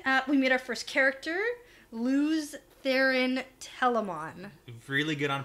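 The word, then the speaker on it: Lews: like that um i i used to pronounce lu i thought it was louis for a long long time but it's lose lose yeah there's a pronunciation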